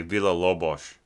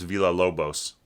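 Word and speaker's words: Villa-Lobos: the uh quarteto symbolico by vila lobos um which some people mispronounce villa lobos and that is a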